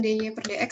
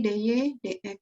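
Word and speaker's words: dy/dx: Ini bacanya jangan dy per dx ya di sini, tapi dy dx gitu. Ini namanya notasi Leibniz ya, dy dx. Ingat ya dibacanya dy dx bukan dy per dx.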